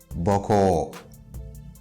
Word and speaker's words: boko: And the last one that I want to add is boko. Boko. Boko. Again, I'm raising the tone of the last syllable.